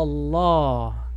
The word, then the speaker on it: الله: Allah. Illa Allah. Y Allah se dice con una A pesada.